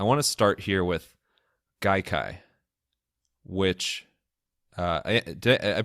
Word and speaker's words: Gaikai: It's a Japanese word.